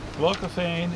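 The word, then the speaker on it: glaucophane: from the eroded catalanishist far to the North glocophane is spelled and it's a blue it's a blue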